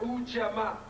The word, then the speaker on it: Ujamaa: We have, it's pronounced Ujamaa.